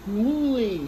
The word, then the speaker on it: Mouli: I pronounced it wrong. It's a Mouli shredder made in France.